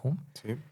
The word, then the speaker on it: Hume: Entonces, un filósofo de la misma época, Hume, o bueno, Hume, creo que se pronuncia Hume, dice, no, ¿sabes qué?